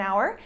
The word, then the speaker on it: hour: are in this case the H is silent so the pronunciation is the same there are many cases